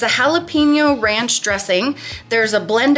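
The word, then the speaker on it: jalapeño: It's pronounced jalapeno, this thing. Jalapeno.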